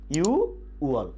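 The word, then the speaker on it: 유월: আমাদেরকে মনে রাখতে হবে জুন মাস বলার সময় নিচের যে ভাতচিম ছিল এই ভাতচিমটি থাকবে না, তাহলে উচ্চারণ হবে কি ইউ ওয়াল।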